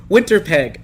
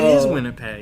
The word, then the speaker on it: Winnipeg: starts with the W Winnipeg David yeah it's winter peg winter peg always winter never Christmas winter pasture peg oh man I butchered that way Winnipeg he's gonna hate you I know where we're